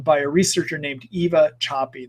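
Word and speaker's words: Szapi: a researcher named Eva Choppy. That her last name is spelled S-A-P-I.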